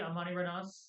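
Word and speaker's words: Amanirenas: I'm gonna say Amani Renaas because that just sounds cool and it blows off my tongue.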